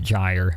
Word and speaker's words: Gyre: Even though I just started calling it Gyre because I did figure out I was saying it wrong the whole time. But yeah, Gyre is crazy.